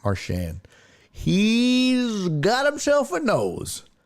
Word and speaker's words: Marchand: Can anyone else name Marchand's nickname?